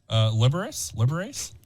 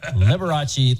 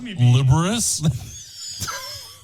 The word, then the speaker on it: Liberace: Can I say the funniest part of the show so far is Matt trying to pronounce Liberace there? Yeah, Liberous?